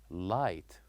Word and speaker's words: light: wrote G and Ed but we don't pronounce it we say light and another word which